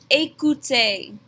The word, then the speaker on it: écoutez: Here we have both of our phonetics rules with that E accent aigu and the easy letter combination. They make the exact same A sound at the beginning and the end of this word.